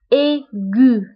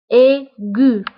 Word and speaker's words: aigu: J donc ماجي ماجي aigu aigu فديجا قلت في الدرس الأول كنا تعرفنا على لي فايل كومبوزي وقلنا أنه A تبعها إيه كتقرا A A donc و G تبعها U كتقرا gu aigu aigu région région 1 plus